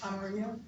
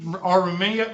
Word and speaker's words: amarillo: Amarillo. I always forget. I can't, Aramillo, or say it one more time.